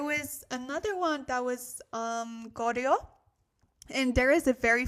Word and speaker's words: Goryeo: So it sounds very, very similar to Korea, Goryeo, Korea.